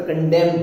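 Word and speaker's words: condemn: इसे पसंद नहीं करता, कंडेम बोलते हैं, तो एन साइलेंट है।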